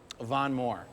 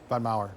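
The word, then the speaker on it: Von Maur: Um, Von Moore. Am I saying that right? Von Mau. Von Mau. I said it wrong, but I shop there sometimes.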